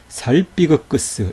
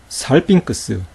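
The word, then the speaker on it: σάλπιγξ: 그대로 한번 발음해 보세요 자 어떻게 발음 할까요 아그 겔로스 아그 귀라 에그 크리오 살비 그 크스 이렇게 발음 할까요 그렇지 않다는 거예요 앙겔로스 앙쿠라 크리오 살 핑크스 이렇게 발음했다 거예요 왜 그럴까요 조금 전에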